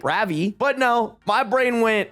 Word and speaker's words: Ravi: Also, the correct pronunciation of the Indian name Ravi is Ravi, and an A letter in any South Asian language is pronounced as an uh sound, not ah or aw.